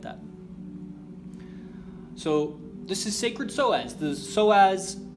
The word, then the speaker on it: psoas: Even though psoas is spelled with a P, I like the double S.